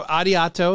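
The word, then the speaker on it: ありがとう: the it is I so ariato is how we pronounce that right yes so we I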